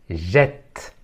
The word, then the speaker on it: jette: s'écrit avec de T je ne prononce pas le E final mais je dois ouvrir le E avant la double consonne t jette jette voilà dans une